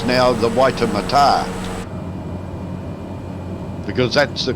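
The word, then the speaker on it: Waitematā: the Auckland Harbor was always known as the waitemata harbor we've all had to change it's now the waiter Mata because that's the correct pronunciation apparently close is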